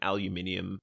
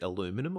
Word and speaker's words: aluminium: My preference is more am I saying it wrong? Is it aluminum? No. It's aluminium. I switch between saying aluminum and aluminium quite a lot. It's definitely aluminium.